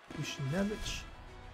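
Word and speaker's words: Buchnevich: Louis gets on the board with a power play by Bushnevich.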